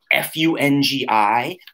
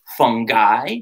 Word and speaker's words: fungi: It's spelled F-U-N-G-I, but you can say it fungi. You can say it fungi. You could even say fungi. It's all okay.